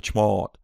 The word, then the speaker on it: chmod: как ее произносят англоговорящие они произносят точно так же только чуть более долго chmod кстати очень хороший сайт